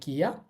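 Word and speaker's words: キャ: তো যাই হোক, কি এর সাথে ইয়া উচ্চারণ হবে কিয়া।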